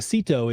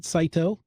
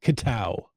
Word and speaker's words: CITO: that's okay let's talk about them let's a Sito is Cash in trash out that's CI T some people pronounce it CTO um what other pronunciations have you heard uh I don't know I usually just hear Sito oh there the the podcasters tried to go